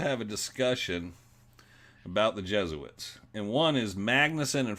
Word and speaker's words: Jesuits: trying to point out they're saying Jesuits it's Jesuits and ask getting Frank to